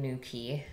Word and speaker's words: Newquay: nuke way though with a Q but they pronounce it in Newquay I found that out very fast and I